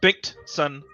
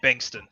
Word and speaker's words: Bengtson: So it's actually pronounced Bengtson, but it's much easier to just say Bankston.